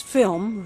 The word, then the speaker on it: film: 필름이 아니고 필 올라가잖아요. 1번 연치로 필름 될 것 같아요. 할 때 입만 다물면 돼요.